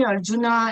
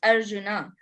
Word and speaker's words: Arjuna: clarify let me clarify in Sanskrit it is not Arjun that is Hindi pronunciation in Hindi we say half bird Ram that is not Ram that is Rama that is Arjuna and in Sanskrit if